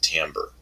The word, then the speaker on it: timbre: sound but we pronounce it in English we pronounce it Tambor so the Tambor it has to do with